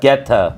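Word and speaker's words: goetta: Goeta. Yes, that's it. That's it. That's it. Goeta. Yes. Geta. Geta. Geta. Yeah, that's how it's pronounced.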